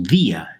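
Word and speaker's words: día: So dia, de, we add an accent, and we make it a 2-syllable word. It's as if both of those vowels are now open, now strong, so they each deserve their own syllable.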